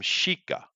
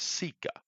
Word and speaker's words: sika: They call them shika, and that's of course a very Japanese way to pronounce a thing. It's not a Japanese word. Of course, it's an Indian word. It's sika, Oh.